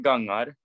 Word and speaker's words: Gangar: So I play with Gangar, as we pronounce it in Norway, and we play Norwegian folk rock.